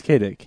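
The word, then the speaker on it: Kaydick: Although it's spelled like K A Y D I C K. I It's not Philip is not his real first name, but I get the illusion. Yeah, it's Kadick.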